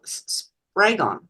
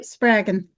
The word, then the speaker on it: Spraggon: I had to get Adele Spraggon. Did I pronounce that correctly? Yeah, Spraggon. Spraggon.